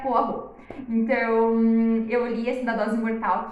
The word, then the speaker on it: Poirot: eu tinha 12 anos eu pronunciava Hércules poirot está eu não sei poirot para muito tempo até entender que a pronúncia correta era forro então eu iria cidadãos